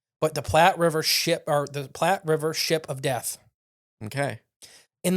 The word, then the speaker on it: Platte: Platte River? Yeah, the Platte River. Okay. The only reason I know that's how you say it is because there's a Platte River in Michigan as well.